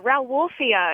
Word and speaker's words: Rauwolfia: Yeah, Rauwolfia. It's spelled R-O-W and then like wolf and then I-A.